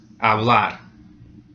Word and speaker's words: hablar: So the last syllable is going to be stressed. Hablar, not hablar, hablar, the last syllable.